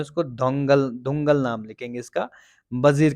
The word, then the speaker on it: Dhaungal: कमजोर राजा के शासन में वजीर दौलगल नहीं है, ये दोंगल होगा।